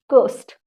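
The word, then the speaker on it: ghost: यहां पे आपका एच साइलेंट होता है, इसको हम कहते हैं गोस्ट।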